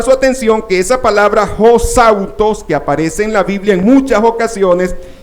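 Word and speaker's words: ὡσαύτως: ejemplo, en Mateo 20:25, esa palabra hosautos, aquí la tenemos en griego, y aquí la tenemos como se pronuncia, que es omega, sigma, alfa, upsilon, tau, omega, sigma, deletreándola, pues, hosautos.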